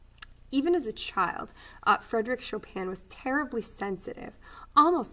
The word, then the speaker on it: Chopin: composer named frederick chopin his last name looks like chopin but it but it really is chopin so that is how you say it and i'm not lying